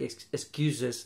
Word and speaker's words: excuses: Fuses. Like excuses, the same. Yes. Fuses, excuses, extra syllable.